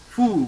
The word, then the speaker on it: fou: Now I have just said the number 6 is OU is pronounced as U, simply U. Okay. So, fou, very good.